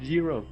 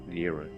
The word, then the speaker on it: Gyro: A gyro blade is enshrined beyond the obstacle, but it's pronounced gyro. It is not gyro because the gyroscope, you know, things that actually like gyrate.